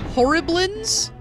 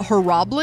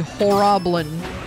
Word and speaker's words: Horriblin: you know what's interesting somebody mentioned that it's pronounced horriblings not heroblin oh it's not her Robin it's yeah horribly as in like horrible horribly yeah but also it sounds more like Goblin when you say horroblin I do agree I like Goblin so horribland is probably technically correct but I'll uh probably